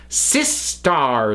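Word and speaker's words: Systar: to bring to thee as it gets pronounced sis star system so I think that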